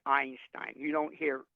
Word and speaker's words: Einstein: with the e but the first letter you actually hear is an eye Einstein you don't hear e